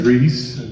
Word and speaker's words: Rhys: So, that said, my name is Rhys. Last name is. I'll spell it out for y'all here.